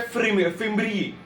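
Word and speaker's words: fimbriae: फिम्ब्री। फिम्बरी बोल सकते हो, कैसे भी प्रोनाउंस कर सकते हो, लेकिन स्पेलिंग इंपॉर्टेंट है, बायोलॉजी पेपर है, स्पेलिंग इंपॉर्टेंट।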